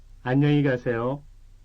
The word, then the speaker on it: 안녕히 가세요: The difference between the two is only one syllable, ka versus ke. 안녕히 가세요.